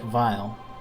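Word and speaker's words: Weil: was intentional but like his name looks like wiley but it's pronounced like vile and he's still the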